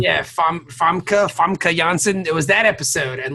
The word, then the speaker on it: Famke Janssen: How do you pronounce her name? Famke Janssen. Yeah, Famke Janssen.